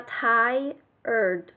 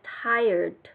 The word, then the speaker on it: tired: Trong tiếng Anh cái từ mệt là mình nói là tired, đọc là tired và có chữ đ nhẹ, tired, tired.